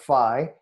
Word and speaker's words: phi: typically called phi or fee is the proper pronunciation in greek as you said it but in in here in the western you know speaking cultures we call it phi the pi ratio and